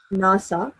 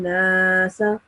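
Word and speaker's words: النَّاسَ: You prolonged the alif sound over here. Wara'aytan nasa. You're not supposed to prolong the alif sound over here. So you're supposed to pronounce it like wara'aytan nasa. Okay. The alif sound will be just pronounced for 1 second.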